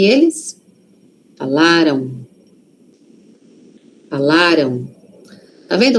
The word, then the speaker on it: falaram: Aqui a sílaba forte tá no lá. Falaram. Falaram. Aquele M ali. Tem som de o aqui, ó. Falaram. Tem, mas é um O muito suave. Por quê? Porque a sílaba forte tá antes, não está lá no M, tá aqui antes, ó.